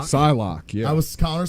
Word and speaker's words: Psylocke: It's not Cyclock, it's Psylocke. Psylocke, yeah.